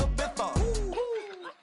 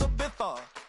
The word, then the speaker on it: Ibiza: I just went to Spain, that's Ibiza. Ibiza, yeah, it's pronounced Ibiza, actually.